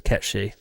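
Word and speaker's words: Cait Sith: Yeah, Kate Sif's a piece of Irish folklore, and the way it's pronounced is Ketchy.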